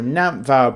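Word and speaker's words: Nantfawr: It's it's a Welsh word, so it sounds like a V, but it's spelled with an F. So, Nvow Bruise.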